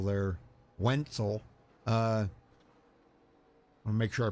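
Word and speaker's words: Wentzel: to drive as you can see uh jordan wetzel there wenzel uh i'll make sure i pronounce that correctly wenzel w-e-n-t-z-e-l wenzel uh i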